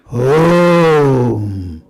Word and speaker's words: Om: It is actually a monosyllable, a combination of 3 syllables. A, U and Say. A plus U become O. O plus become Om. Om.